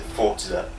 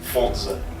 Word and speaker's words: Forza: Right, they pronounce it Forza. Like a pizza. Forza.